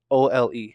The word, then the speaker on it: Ole: His name is Ol. O-L-E. Ole.